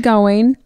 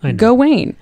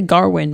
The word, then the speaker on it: Gawain: I look at it I read the way it's spelled g-a-w-a-i-n go Wayne I mean I know it's not that I've been saying go in I'm not gonna say Garwin because that's just phonetically incorrect so I'm not gonna